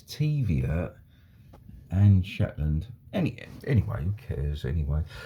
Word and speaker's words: Zetland: Apparently Taviot, those of you that are Scottish would know that Taviot would be pronounced as Teviot, and Zetland Street is Shetland Street.